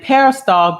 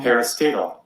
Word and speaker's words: parastatal: the new word parastatal i think i said it wrong parastatal parastatal yeah there it is y'all